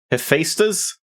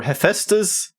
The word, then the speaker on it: Hephaestus: you now pronounce that it's either Hephaestus or hephaestas or how I would normally say it Hephaestus which gave them extremely